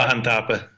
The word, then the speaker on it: Mahanthappa: I'm going to horribly mispronounce that last name, John. You're going to have to save me with that one. Mahanthappa. Rudresh. Say that one more time. Rudresh Mahanthappa, okay.